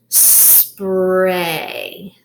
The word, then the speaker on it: spray: if it's about so this will be a long a silent Y spray spray okay I see